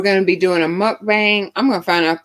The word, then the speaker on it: mukbang: Is it mukbang? Did I say it right, I, Alita? it, She posted it up here. Alita hangs. She hangs in there with us. Alita still there. Mukbang. I guess that's it. Mukbang. I'm Thank gonna you, have. Alita. Oh, I said it right.